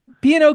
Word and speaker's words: PNOK: Pino. Pino. So you don't pronounce it?